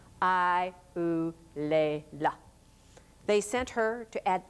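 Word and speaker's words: Eulalia: Spain sent the infanta I lea and she made certain that you pronounced her name with each syllable I lea.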